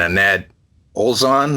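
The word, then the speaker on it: Anette Olzon: Back in March of this year, Russell Allen and Annette Olzon. I think I'm pronouncing the name. Yeah, correct.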